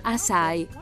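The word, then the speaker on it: açaí: si iscrive a c è e si pronuncia a sai ma che cos'è esattamente ciao sono susan bowerman dietologa oggi parleremo delle bacche di assai le bacche di assai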